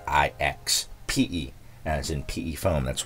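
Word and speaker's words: IXPE: been corrected I've been saying ipxc it's i x p e that's you know p-e-p foam ixp I apologize I somebody corrected me and I looked it up and I was like I've been saying it wrong I don't know why I was saying ipxe but they even said that I was probably confusing it with pxe boot which is a way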